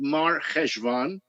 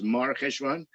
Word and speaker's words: Mar Chesvan: It started on the 17th of Mar Chesvan. That's how it's pronounced. Chesvan, but it's Mar Chesvan.